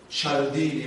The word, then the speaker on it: Cialdini: persuasion written by Robert Cialdini will actually I pronounce the Italian fashion directly it could be